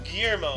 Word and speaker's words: Guillermo: your turn 1952 we have uh gorilla calmero guillermo guillermo yep yeah wow guillermo villas is an argentine